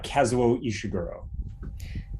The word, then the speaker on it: Kazuo Ishiguro: Kazuo Ishiguro.